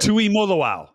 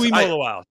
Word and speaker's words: Tuimoloau: Tuimoloau. Yes, Tuimoloau.